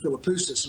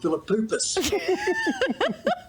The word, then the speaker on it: Philippoussis: One night I got my words mixed up pronouncing Mark Philippoussis, and I said Mark Philippoupis.